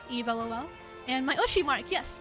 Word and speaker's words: eavlol: pronounced like Eve, eavlol.